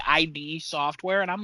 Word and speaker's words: id: it, and he says ID software. Nice. And I was like, I used to say that. Okay, and then I looked it up, and the actual pronunciation is id software. Yeah, it's id.